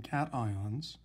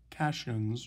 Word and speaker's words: cation: they are positively charged ions we call them cations i know it's spelled like it might be pronounced cassians or acacians but it's not it's pronounced cation